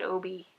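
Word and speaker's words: Obby: Everyone thinks it's my husband, we spelled it O-B-B-Y, and everyone thinks it's Obi, and I pronounce it Obi.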